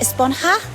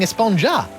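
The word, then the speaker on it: Esponja: huh actually it's pronounced espanha with an h sound at the end really but we've all been saying espanja yes i know it's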